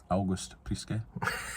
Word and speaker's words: August Priske: August Prisk, or how do you say it, Dad? August Priska. August Priske.